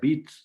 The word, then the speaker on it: Witt: Y empecé con Berlín porque mis raíces y por eso mi apellido materno, que es Witt, se escribe con W, no, pero se pronuncia Witt, de acuerdo al alemán, porque mi bisabuelo salió